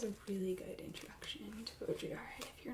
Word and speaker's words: Baudrillard: Okay, our look this up on how to pronounce it before you got here so I wouldn't embarrass myself. We have Jean Baudrillard, and it's just one of his selected writings.